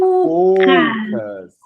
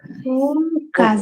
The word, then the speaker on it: focus: você falar ela errada, você falar o como o ó do português, você vai estar falando um palavrão gigantesco, tá bom? Então aqui, ó, é poucas. É como se tivesse um o e um. Tá? Foucas. Isso. Foucas. Anotei aqui. Foucas. Isso. Não esquece do U, tá?